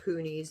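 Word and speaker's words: punis: spin from, or the poonies. That's what they're called. They're not called Rolags when it's cotton. It's called a poonie. Which is really weird because it's spelled P-U-N-I-S, but it's the S is silent.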